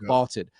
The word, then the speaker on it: VLTED: Vaulted is spelled VLTED, and it's the app to challenge your friends, store your predictions, and join daily cash prize pools without any entry fee.